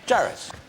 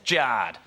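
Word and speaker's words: Jarred: Jared.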